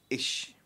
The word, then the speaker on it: ich: सो आई को हम बोलते हैं इश. इश प्रोनाउंसिएशन क्या रहेगा.